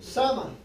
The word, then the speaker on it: Samhain: Los druidas eran satanistas que alababan y servían al dios de la muerte, Samhain, pronunciado Sama.